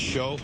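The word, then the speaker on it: Shiou: Yeah, it's pronounced show.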